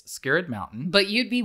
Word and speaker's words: Skirrid: So it's called Skirrid Mountain, but it's spelled S-K-I-R-R-I-D. So it kind of looks like how we might say, don't get scared.